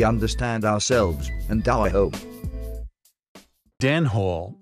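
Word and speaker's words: dene hole: ourselves and our hope Dan Hall yet pronounced Dane Hall after the Danes intriguingly their purpose although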